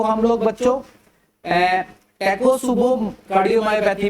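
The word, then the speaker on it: Takotsubo: Unclassified cardiomyopathy को हम लोग बच्चों टैकोसुबो कार्डियोमायोपैथी भी बोलते हैं, टैकोसुबो कार्डियोमायोपैथी भी बोला जाता है।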